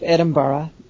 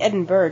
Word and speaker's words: Edinburgh: No, the pronunciation of Edinburgh, the use of borough is not just Scottish, it's British English. So, I'm just going to start saying Edinburgh just to get on you.